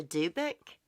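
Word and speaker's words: dybbuk: gonna look up how to pronounce that hey spell it debbic a dubik it's out saying it dubik a dubic is how it's saying it wow i need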